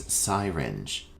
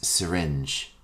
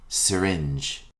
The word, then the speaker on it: syringe: before your meal our next term is commonly mispronounced as syinge the correct pronunciation is syringe repeat after me syringe a syringe is a medical instrument used to